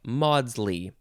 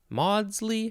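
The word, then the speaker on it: Maudsley: synonyms are accord and harmony as in this quote such happy chime of fact and theory that's from henry modley m-a-u-d-s-l-e-y modsly modsly sure this is from uh it's a middle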